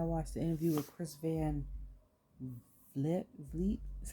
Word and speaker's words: Van Vliet: But I'm like, it's crazy because my son and I watched the interview with Chris Van Vliet, is how you say his name.